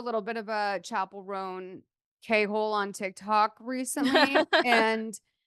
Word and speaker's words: Roan: my name is Chappell Roan and you're like people were pronouncing it wrong or whatever. But I do fall into the like Rowan every once in a while. It slips out.